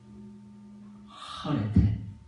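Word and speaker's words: χαίρετε: 카레테가, 요걸 하레테라고 읽어요. 히브리어는. 하레테.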